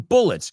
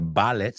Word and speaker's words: bullets: I'm sweating bullets. No se pronuncia ballets, sino bullets.